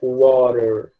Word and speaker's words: water: Você percebe que se escreve com T. Você tá vendo um T na escrita, mas a pronúncia, se você ouvir, ó, water, water, é como se esse T ele tivesse muito mais semelhante a um R do que a um T de verdade. Então, ele se pronuncia water, como se fosse um R, né?